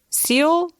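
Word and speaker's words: Syal: clip of Mira sayal seal I always want to put a t in it I always want to say steel and I know that's wrong I don't want to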